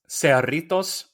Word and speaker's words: Cerritos: If you pronounce that in Spanish, it's Cerritos, and it translates to the little zeros.